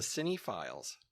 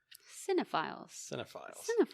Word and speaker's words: Cinephiles: month is called the Cine Files. At least I hope that's how you say it. Cinephiles. Why did I say Cine? Yeah, the Cinephiles. Cine. Because of the spelling.